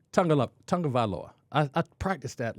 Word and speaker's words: Tagovailoa: We're going to say Tagovailoa. Tagovailoa.